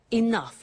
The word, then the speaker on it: enough: doesn't have enough money now this word enough enough it's written e n o u g h the pronunciation is enough what does it mean let